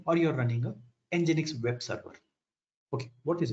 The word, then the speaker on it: nginx: what is nginx so nginx if you have worked with it very good if you don't have worked with it then it is here nginx pronounced as nginx is a open source